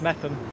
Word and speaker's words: Meopham: George in George in metham am I right I said it wrong it's meam so finally after more road